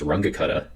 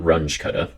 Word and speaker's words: Runge-Kutta: tricky to pronounce pronounced rangakata not Runge cutter it has nothing to do with the 90s metal hybrid music sensation of grunge um and hopefully you